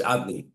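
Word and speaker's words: Adonai: The pronunciation is what? Is Adni, master.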